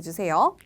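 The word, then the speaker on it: じゅう: 뉴 장음으로 발음해 주셔야 돼요.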